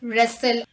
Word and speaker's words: wrestle: W is not pronounced at the beginning of a word when it is before the letter R. Let's look at the examples. Rap, right, wrong, ring, wreck, wrestle and wrist.